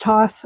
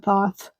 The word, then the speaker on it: Thoth: I've heard it pronounced Toth and Thoth. It's spelled Thoth, Thoh, Oth, but some people pronounce it Toth.